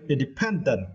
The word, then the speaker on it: independent: and for this words you need to stretch the third syllable and okay independent yeah and here the